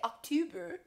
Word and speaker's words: October: Looks like 2, but we don't say October. We say octo, like your toe.